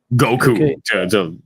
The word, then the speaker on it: Goku: Dragon Ball and uh Spanish pronunciation is actually very similar like the way that we pronounce our V are very similar to the way that the Japanese pronounce their vowels so Goku always sounded